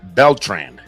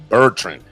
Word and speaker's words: Bertrand: she needs to understand in Puerto Rico we add the L to a lot of things PTO Rico right it's like so I keep calling her beltrand and it's Bertrand it's Kelly now it's